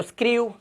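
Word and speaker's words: screw: के बाद ईडब्ल्यू, आर के बाद ईडब्ल्यू तो स्क्रू, और इसी तरह से ग्रीव, ठीक है, ऊ का उच्चारण स्क्रू, ग्रू।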